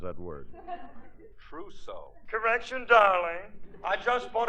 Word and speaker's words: trousseau: I just bought a completely new torso. You got a new what? Hold the wire a minute, sweetheart. Hey, Remley, how do you pronounce that word? Trousseau.